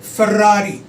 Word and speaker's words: Ferrari: Ferrari, okay? Gucci, हालांकि ये Italian word है बट मैं इसको फिर भी ठीक से प्रोनाउंस कर रहा हूँ.